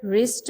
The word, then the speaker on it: wrist: Knob में letter के silent letter, no में के साइलेंट लेटर, रिस्ट में डब्ल्यू, रॉन्ग में डब्ल्यू।